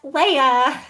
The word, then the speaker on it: Leia: It is spelled like Princess Leia.